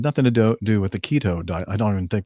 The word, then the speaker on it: keto: He believes that he blew a false positive because of the keto diet, K-E-T-O. Or is it Keto? Am I mispronouncing that?